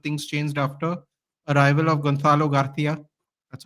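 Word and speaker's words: Gonzalo García: But things changed after arrival of Gonzalo Garcia.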